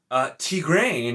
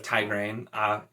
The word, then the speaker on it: Tigraine: And then you have Tigraine instead of Tigraine. So once again, it's an I. I know it can make an E sound, but like I feel